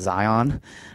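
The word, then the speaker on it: Xion: But then when 358 was first announced around 2008, and this mysterious girl who really should be pronounced Zion, her name, and she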